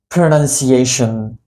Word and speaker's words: pronunciation: This is called pronunciation. Pronunciation. Let me break the sound for you. Pronunciation. Pronunciation. It's not called pronunciation, it's always pronunciation.